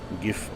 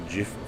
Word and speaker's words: GIF: That'll bring up, I think, a bunch of things you can redeem for free, which is usually the little GIF or GIF files, depending on how you say it.